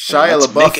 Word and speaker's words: Shia LaBeouf: Just do it like Shia LaBeouf, or Shia LaBeouf, whatever. It's Shia LaBeouf, for fuck's sake, Ramon. Here's the thing, right? I know it's like that, but I'm saying it wrong on purpose now, just to spite people.